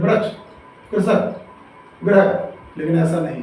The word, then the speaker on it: ग्रह: इसमें पदेन्द्रा लगा है और इसमें ऋषि की मात्रा लगी है, दोनों में अंतर है। ठीक है, प्रोनाउंसिएशन एक बार करके बताते हैं आपको। ये है ग्रह, क्या है?